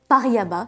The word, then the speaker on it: Paraíba: Right, where was I: 3 orange sapphires, 2 yellow sapphires, 2 Paraíba tourmalines — that is how you say it — 2 amethysts, and last but not least, 2 emeralds.